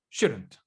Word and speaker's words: shouldn't: Y aquí la D vas a sonar como una R.